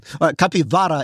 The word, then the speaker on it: capivara: Yeah, capybaras. That's how you say it. Well, I'm trying to be a little more Latin American, given that they mostly live in capivara in Brazil.